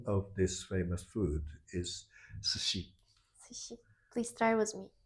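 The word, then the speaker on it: 寿司: S before I is always pronounced as sh.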